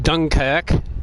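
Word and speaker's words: Dunkerque: It's the Dunker Q, pronounced Dunkac, which has all its guns in the front.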